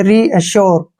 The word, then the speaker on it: reassure: ना, यहाँ पे, और RE का उच्चारण जो है रे के रूप में करेंगे। इसको हम पढ़ेंगे रीअश्योर, क्या पढ़ेंगे?